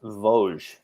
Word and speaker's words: Vosges: By the way, it's pronounced Vosges.